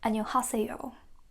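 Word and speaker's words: 안녕하세요: Make sure this is not ha but a, okay?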